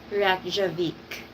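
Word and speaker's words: Reykjavík: So Funny and Insightful said that this is how you pronounce it. Reykjavik.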